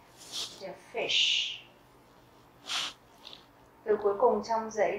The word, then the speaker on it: Fisch: đọc là der Fisch, bởi vì đây là âm Y ngắn. Các bạn nghe lại nhé. Der Fisch. Và âm SCH ở đây chúng ta sẽ đọc là âm sh, tức là sh mạnh.